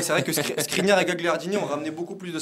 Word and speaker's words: Gagliardini: Mais ouais, c'est vrai que Skriniar et Gagliardini ont ramené beaucoup plus de stabilité. Gagliardini au poste de numéro 6. Je peux le dire qu'en italien, on ne dit pas Gagliardini, on dit Gagliardini.